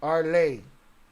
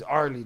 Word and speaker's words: Arley: It's pronounced Arley. R. La Verga with his name. Fuck his name. He's Arlie to us.